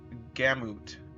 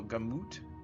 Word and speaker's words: gamut: I believe it's pronounced like gammut. Oh, gamut. Interesting. I guess I was confusing it with gambit.